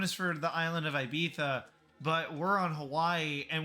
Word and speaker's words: Ibiza: And yes, it is pronounced Ibiza with a TH, because long story short, people in Spain say TH because that's what their king once did. He couldn't pronounce his S's properly. So instead of calling him out on social media and disrespecting him, they changed how they said Ibiza and all the other words with a Z.